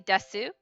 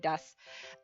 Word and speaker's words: desu: just keep saying dust it's very common to when it ends in like a ooh like a u like that to just kind of not super say it like really loud you like soften it so that's why it's i'm saying desu but i'm saying it like dust because i'm making the ooh almost like gone but that's a very